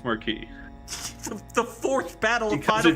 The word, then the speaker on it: Marquis: pronounce that word in eiles that's how you pronounce the word in the bad eiles in this eil e it's Marquee the fourth Battle of Final Fantasy X doesn't